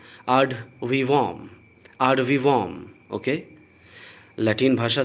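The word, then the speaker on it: ad vivum: हम इंग्लिश की नज़र से इसको देखने लगते हैं और एड वीवम पढ़ देंगे, बट ये गलत है। इसका करेक्ट प्रोनाउंसिएशन है आड वीवॉम।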